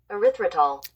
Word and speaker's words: erythritol: How do you pronounce it? Just for my audience one more time. Erythritol.